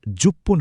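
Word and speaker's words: 十分: কিছু সংখ্যার শেষে উচ্চারণটা ফান না হয়ে পন হয়।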